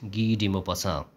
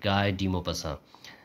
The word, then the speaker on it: Guy de Maupassant: You have to pronounce it Guy De Maupassant, not Guy De Maupassant.